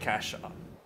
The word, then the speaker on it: cache: the way I pronounced cachet some people call it cash I like it same